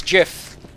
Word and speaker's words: GIF: my award ceremony speech it's Jiff because that's how G's are pronounced in the English language you